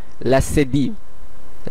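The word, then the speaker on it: leçon: চতুর্থ এক্সেটি আপনারা নিশ্চয়ই দেখতে পাচ্ছেন লাসেদি লা সেদি অথবা সেদিলা যখন সি অথবা ফ্রেঞ্চের সে প্রয়োগ করা হয় তখন এটির উচ্চারণ এস এর মতন হয়ে যায় যেমন এই উদাহরণটি আমরা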